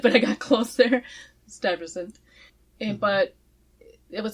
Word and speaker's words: Stuyvesant: So the town was originally chartered or granted by the original Dutch director, Peter Stuyvesant. Still mispronounced it, but I got close there. Stuyvesant.